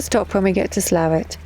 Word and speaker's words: Slaithwaite: We're in Slaithwaite. Or Slaithwaite, or Slough. It's pronounced Slaithwaite, but that makes no sense.